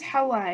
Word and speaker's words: Hawa: with that hour no my name is hawa it's like um like from adam so in english it's spelled awa no it's because back